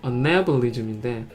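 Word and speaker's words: anabolism: 또 발음을 잡으면 어네블리즘인데 아나볼리즘 그냥 뭐 친근하게 이렇게 발음을 하면 이거를 동화작용이랍니다.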